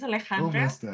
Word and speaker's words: Alejandra: today we got on Alejandra is that how we pronounce the name um almost there it's aleandra it's a Spanish but you can call